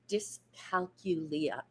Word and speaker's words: dyscalculia: I think it's pronounced dyscalculia.